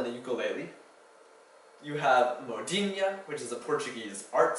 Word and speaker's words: modinha: You have modinha, which is a Portuguese art song, and ainu, a tropical disease. All of these have the nha sound spelled with an nh.